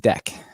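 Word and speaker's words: deque: learned a few years ago that dq is pronounced deck so yeah double ending yeah all right so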